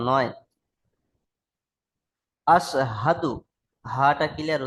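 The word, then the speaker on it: أَشْهَدُ: আসহাদু আল্লাহ ইলাহা ব্যাস, ইল্লাল্লাহু ওয়াস- ব্যাস। দেখেন এখানে আপনি বললেন আশহাদু, সিন দিয়ে উচ্চারণ করছেন, তাই না ভাই? জি, কিন্তু এখানে দেখেন তিন নক্তালা শিন আছে মোটা আওয়াজে, আশহাদু।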